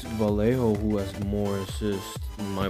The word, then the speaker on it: Vallejo: Jolezo it is, and Vallejo. That's what it is, Vallejo.